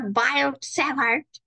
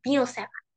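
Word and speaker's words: Biot–Savart: That's not Biot-Savart, which is horrible. কারণ these two guys were French, and French এ তুমি not মানে you don't pronounce this as Biot-Savart, this is Bio-Savart.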